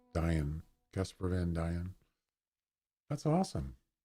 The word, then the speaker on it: Casper Van Dien: How do you pronounce that? Casper Van Dien. Yeah, that's him. Or is it Dine? Diane.